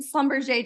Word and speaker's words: Schlumberger: to be one of the seven people that pronounce it wrong um comment Slumber J down below if you're one of the seven